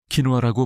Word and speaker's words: 퀴노아: 바로 퀴노아입니다. 키노아라고 발음하는 이 작지만 강력한 씨앗은 영양의 보고이며 혈당 안정에 큰 역할을 할 수 있습니다. 혈당을 급격하게 올렸다 내리는 백미나 다른 고혈당 곡물과는 달리 퀴노아는 혈당 지수 GI가 약 53으로 낮습니다.